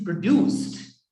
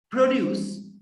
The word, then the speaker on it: produce: in which you know the accent makes a difference it's a product and or it's a produce and it is produced now produce and produce there two different words now it is that